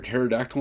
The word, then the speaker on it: pterodactyl: can't you hear a pterodactyl in the bathroom because the p is silent like stupid stuff like